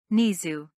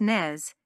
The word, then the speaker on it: Nez: you Schmid strand yep nisu a good-looking blonde jerked her head in his Direction her blue eyes flashing it's pronounced Nez she said sharply then she